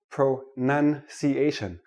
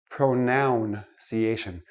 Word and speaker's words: pronunciation: start with this word pro none see asian not pronoun see asian it is not a pronoun a pronoun is i me my mind pronunciation is how we speak English so I'm gonna give